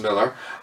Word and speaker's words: Millar: Miller um Mark Millar it seems it would be pronounced with the a at the end but it's pronounced Miller um who wrote the